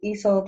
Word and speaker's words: Isolde: And my name is Isolde. It's pronounced Isolde, like E in salt.